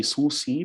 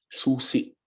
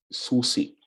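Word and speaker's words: susì: and then key Susi so you don't say Susi because there's a glal stop here so you say Susi Susi okay elog okay for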